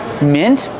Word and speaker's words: mint: like green beans again chamomile chamomile this is pronounced chamomile mint easy Rosemary easy and bay leaves I love